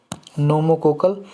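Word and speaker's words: pneumococcal: है यह जी नोमो नोमो कोकल P silent होता है जी निमोनिया में भी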